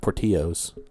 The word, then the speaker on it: Portillo's: a Portillo's no yeah pretty sure it's pronounced poor Tio's the Mexican Italian beef